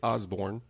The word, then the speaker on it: Osbourne: The King of Prussia, Kit Osbourne, is still here with us. That's Kit like the car, and Osbourne like Ozzy. Yep, just like Ozzy, spelled the same way.